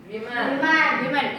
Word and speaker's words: women: womanக்கு plural women.